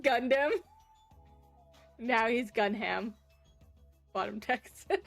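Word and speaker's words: Gundham: Gunham? Gunham? It's pronounced Gundam.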